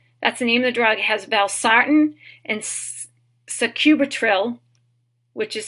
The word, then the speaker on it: sacubitril: the name of the drug has barttin and sacubitril which is spelled Soarin also with suub tril which is